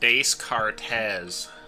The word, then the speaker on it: Descartes: It's pronounced Descartes.